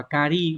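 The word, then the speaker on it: 仮: chữ giả chữ giả này thông thường nó đọc là cari mang nghĩa là tạm thời ví dụ Chúng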